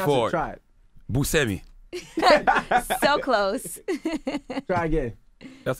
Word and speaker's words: Buscemi: How do you pronounce it, Yee? Buscemi.